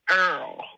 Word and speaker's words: oil: I got to slow it down myself to kind of understand it because they're OIL, they pronounce it Earl.